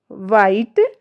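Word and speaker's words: white: व्हाट देखिए व्हाट वाइट व्हेन इन सभी में आप देखिए क्या इसमें हमारी जो एच का है वहां कहीं कोई जिक्र उच्चारण नहीं है ना क्योंकि एच हमारी यहां पर साइलेंट है और ये हमारे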